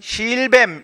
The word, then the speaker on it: 실뱀: 짧은 소리로 바뀌는 것이고, 이제 첫 번째 음절에 있는 실 이거는 그대로 긴 소리로 발음해서 실뱀이라고 해야 되겠습니다.